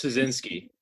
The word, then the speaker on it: Sceisinski: Ryan Keegan and Sceisinski. Did I pronounce that right? It's Sceisinski.